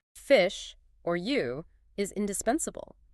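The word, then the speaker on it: 鱼: Fish or U is indispensable. Its pronunciation is identical to the word for surpluses or excess.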